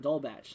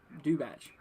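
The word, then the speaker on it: Dubach: of vienna uh and dull batch so that is or do batch to say pronounced there uh kind of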